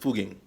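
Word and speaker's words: Fugging: among other things and by the way it's pronounced fuging I should know ish pressure Deutsche I Envision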